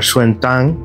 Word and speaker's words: Xuanzang: তার নাম হচ্ছে জুয়ানজাং বা শুয়েনটাং, এভাবে উচ্চারণ করা হয় মাঝে মাঝে।